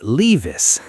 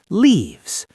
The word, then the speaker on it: leaves: Many people find this pronunciation difficult. That is true. I almost said leavis. But it is a long I sound, right? Leaves.